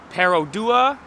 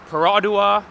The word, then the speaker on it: Perodua: some people pronounce it pero dua some people pronounce it paradua but i pronounce it